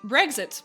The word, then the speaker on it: Brexet: Brexit, pronounced like Bridget.